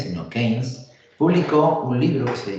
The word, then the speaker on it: Keynes: En 1936, el economista británico, que menos mal que existió, John Maynard Keynes, aquí, mira, pone aquí el matiz, no se pronuncia Keynes, sino Keynes, publicó un libro que se llama Teoría General del Empleo, el Interés y el Dinero, donde transforma absolutamente la macroeconomía, ¿vale?